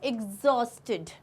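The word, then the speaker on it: exhausted: क्या हो जाता है एग्जॉस्ट एग्जॉस्ट okay egg जॉस एस्टेड यह है एग्जॉस्ट ओके एग्जॉस्ट अब कुछ लोग इसको एकदम बोलते हैं एग्स एकस से नहीं प्रोनाउंस करना एग आएगा ग वाला साउंड आएगा एस्टेड ओके मीनिंग वेरी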